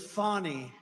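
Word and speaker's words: Fani: lives have been destroyed because of fonny f a n i fny you have to pronounce it fonny it's called Fanny you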